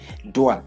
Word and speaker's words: doit: You don't pronounce the last consonant letters in French.